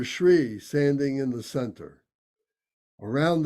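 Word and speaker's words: श्री: So I can see that, the Shri is spelled differently than you would expect. It's pronounced Shri.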